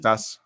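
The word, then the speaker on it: Oruguitas: I forget how you Dos pronounce it. Oreguitas.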